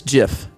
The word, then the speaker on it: GIF: would know it that it's jif like the peanut butter choosy mom and dads